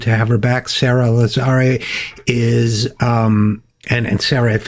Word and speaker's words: Lazare: It's Lazare. Yeah, I thought so. Okay. The teachers always mispronounce my name in elementary school, even though it's pronounced phonetically.